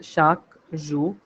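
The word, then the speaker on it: chaque: For example, the word for everyday in French is shaku. So this q u e in French is pronounced as k in English.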